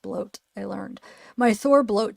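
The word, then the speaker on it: blót: is from my my Thor bot bloat that's pronounced bloat I learned my Thor bloat today a cool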